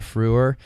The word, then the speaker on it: Frewer: wait fir Matt Frewer is it spelled like how people call like Hitler the Fuhrer's like that no fre wer nope the one word